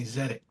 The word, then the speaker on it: Tzedek: And you know, I always say, "Take the tea off and then say zedic."